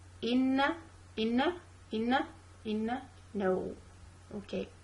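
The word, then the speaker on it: إِنَّ: I'm gonna say Hamza kasra E, then I'm gonna move on to Noon. Okay, so a double letter, so I'm supposed to pronounce two letters. The first one is sakin, two Noon. A sakin Noon, then a mutaharrik Noon with fatha. And in these two letters, I'm supposed to keep the Ghunna sound with me.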